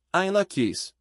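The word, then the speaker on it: In Lak'ech: Saudação Maia, Inlakek, pronúncia, Ainlakis.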